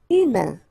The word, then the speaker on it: humain: Humain. Remember, H doesn't exist. So U, then A-I-N together. Un. Humain, humain.